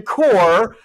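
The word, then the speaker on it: Kocher: Ladies and gentlemen, interim director of the Madera Arts Council, Jim Core, but it's not spelled Core. No. It's spelled K-O-C-H-E-R, but pronounced Core.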